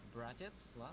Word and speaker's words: Братец: Okay, so his name is pronounced Bratets, is that right? Yes, it's right.